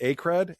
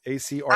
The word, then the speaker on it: Acred: Over 13 million associated with, is it Acred? A-C-R-E-D? I say Acred. I think I've heard I've heard other people pronounce it differently, like Acred.